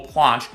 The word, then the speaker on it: planche: then lastly the full plunge or planche I feel like for me personally I randomly interchange between planche and plunge it's a tomato tomato situation both pronunciations work and going to the